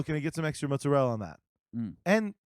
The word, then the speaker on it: mozzarella: I get some extra mozzarella on that and cuz muzel is how you're supposed to pronounce it yeah I'm the